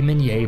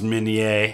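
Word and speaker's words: Minié: delvinia had invented the Minier ball a cylindrical bullet and he's right it is pronounced Minier because it's French but everybody calls it the mini ball with etched rings and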